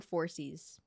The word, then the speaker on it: Phorcys: Is the PH a P or a F? I think it's F, like phone. So I'm gonna call him Phorcys.